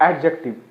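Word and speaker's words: adjective: यहां डी किसी भी चीज में डी साइलेंट रहता है। यानी ए के साथ डी रहता है तो डी हमेशा साइलेंट रहता है। इसको एडजेक्टिव बोलते हैं।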